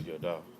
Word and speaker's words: Yada: It was Da'at or Yada. That's how you say it.